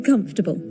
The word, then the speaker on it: comfortable: Yeah, just three syllables.